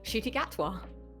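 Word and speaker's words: Ncuti Gatwa: who is the current doctor that would be shoy gatwa that is correct GG's I know some people stumble on the pronunciation but yeah didn't even know how to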